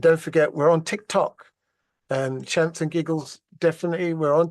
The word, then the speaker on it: Shamps: how I pronounce the Shamps, it's like champagne, but just Shamps, CHAMP, okay, S, Shamps, and Giggles, GIGGLES, okay.